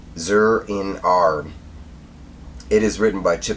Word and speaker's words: Zur-En-Arrh: Okay, so the second story, and I have to look at it to say it right, Zur-In-Ar.